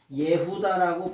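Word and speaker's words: יהודה: 뜻이냐면 야다 플러스 여호와예요 그래서이 유대라고 하는 말을 원어로 뭐냐면 예후다라고 발음을 해요 이게 무슨 뜻이냐 유대민족은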